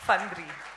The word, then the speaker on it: Fandri: Fandri.